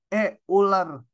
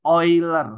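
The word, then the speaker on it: Euler: 1 itu dinamakan bilangan e ular Bacanya jangan gitu Ini nama orang yang udah meninggal bacanya ini oiler ya oiler bilangan oiler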